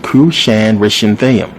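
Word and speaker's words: Cushan-rishathaim: is a long one cusan renam this is how you pronounce it believe it or not kushan renam who's the king of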